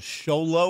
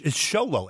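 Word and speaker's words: Show Low: And no, it's Sholow, S-H-O-W-L-O-W. Seriously, Sholow, Arizona.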